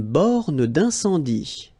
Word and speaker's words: borne d'incendie: Une borne d'incendie. Okay, final here not pronounced, final here not pronounced. Une borne d'incendie. And then you get the nasal. Incendie.